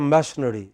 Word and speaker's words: machinery: It is therefore, unlike our languages, in English it is extremely important that we get the word stresses right, otherwise we can have